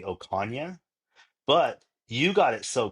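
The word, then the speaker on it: Ocaña: So, in my last name, it actually the N is it En, right? So, my last name is actually Okana, but you got it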